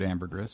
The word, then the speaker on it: ambergris: You would pronounce it ambergris.